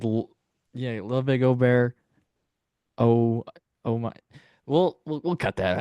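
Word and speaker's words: Åberg: I said Ludwig Ober. Oh my. We'll cut that out. What's the joke here? That you pronounce it's the letter A, Okay. but like you pronounce it O, Okay.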